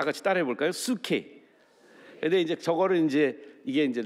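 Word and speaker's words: ψυχή: 헬라 발음은 원래 헬라 발음은 수케라는 발. 다 같이 따라해 볼까요? 수케.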